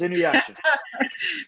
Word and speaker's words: Inuyasha: Wait, spell that again. INUYSHA. It's Inuyasha.